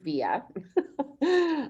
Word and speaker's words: Vija: we should probably start it's pronounced via i know it looks weird because it's v i j a but the j is like have you ever seen tonya with a j maybe there's a tonya